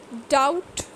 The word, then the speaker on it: doubt: the letter w is silent the next one is silent b dep doubt climb climb so you can see that i